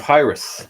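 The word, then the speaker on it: Hiraeth: It's Hyrith.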